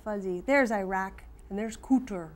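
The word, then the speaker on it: Kuwait: and that other country it's pronounced cooter was next door did your daddy ever go to Iraq and cooter not coochie but Iraq we went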